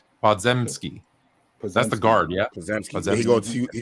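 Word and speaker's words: Podziemski: highest floor of all prospects Wallace GD or pods niminsky I can't say his name podzemski that's the guard yeah he got drafted by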